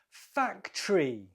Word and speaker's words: factory: last one number five factory factory two syllables the first syllable is stressed Factory all right that's